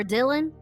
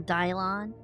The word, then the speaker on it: Dylan: Or Dylan, not Dylon. Who's who? Why did I say it like that? Dylon. Dylon. It's Dylan. Dylan, damn it.